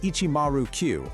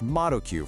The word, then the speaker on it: Shibuya 109: And right there in the heart of Shibuya stood this building, Shibuya 109, pronounced Ichimaru-Q or just Maru-Q for short.